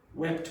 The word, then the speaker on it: wept: Wept wept. Weep wept. Wept. Wept. You have to pronounce that last consonant. If you say wept weep, nobody knows what you're talking about.